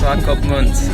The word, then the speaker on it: Swakopmund: Swakopmund. I finally figured out how to pronounce the name. It was a good tip when you said SWA stands for Southwest Africa.